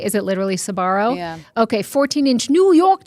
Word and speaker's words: Sbarro: Is it literally Sbarro?